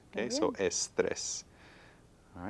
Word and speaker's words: estrés: Y 2 sílabas solamente. Okay. Okay. ¿Qué ¿Estrés piensas? o estrés? Estrés. Estrés, al final. Al final. Entonces, las palabras con S necesitan un acento si hay Muy bien. énfasis al final.